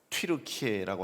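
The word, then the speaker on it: Türkiye: 터키라는 나라의 이름이 바뀌었습니다 터키라고 안 하고 튀르케라고 하는 말을 쓰는데 그 이유는 원래 7키에가 원래 그 나라의 이름이었습니다 그런데 이제 편하게 발음하려고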